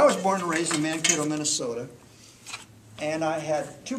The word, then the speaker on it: Mankato: of looks like this and this is where man k told is that net mankato never heard it butchered that way but the first time this